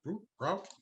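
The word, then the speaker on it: Brouk: Legislation sponsored by Senator Samraji Brook, B-R-O-U-K, Brook. I never heard it pronounced.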